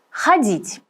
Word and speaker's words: ходить: Обращаем внимание на ударение. Ходить.